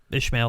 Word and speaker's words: Ismail: But basically, there is Rami Ismaili, or I believe that's, I can never pronounce Ishmael. his name. Ishmael, thank you.